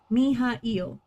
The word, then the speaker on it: Mihail: Mihail. Every vowel is a new syllable.